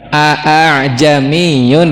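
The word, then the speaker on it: ءَاعْجَمِيٌّ: A'jamiyun dibaca apa?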